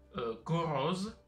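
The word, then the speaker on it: գոռոզ: G, go. Donc, vo, ça se prononce O dans le mot. Go. Donc, R ici, c'est entouré. Go, c'est comme en espagnol. R. Go, ro. Et Z, on va écrire un Z.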